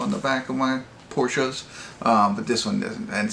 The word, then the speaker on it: Porsche: And yes, I am a fan of Porsches. I always call it Porsche, but you're supposed to pronounce it Porsche.